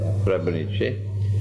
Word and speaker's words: Srebrenica: That's the correct pronunciation. Srebrenica.